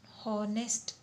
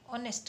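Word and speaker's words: honest: Okay, तो इसमें हमारा H साइलेंट है, ये ह का जो होता है साउंड हॉनेस्ट नहीं कहा जाता, ऑनेस्ट कहा जाता है।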